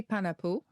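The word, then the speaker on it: panapoʻo: Panapo. Panapo? Could be panapo.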